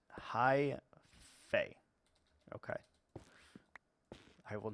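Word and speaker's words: hyphae: that we should have it's pronounced High F okay okay I will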